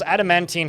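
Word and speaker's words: adamantine: Adamantene has three syllables.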